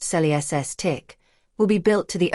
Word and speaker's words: Celestiq: We say at least because each Celestiq, pronounced sel-ESS-tick, will be built to the owner's exact specifications.